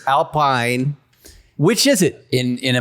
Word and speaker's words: Alpine: I've seen people go, Alpine. It's not. Alpine. It's Alpine.